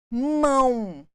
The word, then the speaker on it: mão: representando a letra e mão mão olha a sonoridade do U representando o o nós não falamos mão mão então nós temos aqui